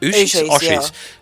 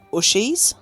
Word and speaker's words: Ooshies: Ooshies. Yeah. Ooshies have really taken off in Australia. I used to pronounce them Ushies.